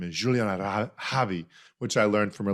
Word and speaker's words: Juliana: And just for those listening, the correct pronunciation of her name is Juliana, which I learned from her LinkedIn, but she's spelling it out.